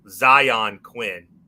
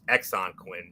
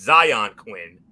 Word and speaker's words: Zion Quinn: the finish and um just so you can get the um the pronunciation correct once and for all zion quinn uh of course you you've heard mf says exxon quinn many of times but it's zion quinn um and it went